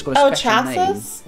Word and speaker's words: chassis: It's got a special chassis? Name. Which is spelled like this. Chassis.